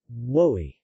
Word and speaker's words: Wœy: Woey.